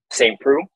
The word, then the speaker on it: Saint Preux: Saint Preux.